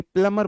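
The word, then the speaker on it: plumber: वे इसे प्लंबर कहते हैं। इसमें 'b' अक्षर साइलेंट है।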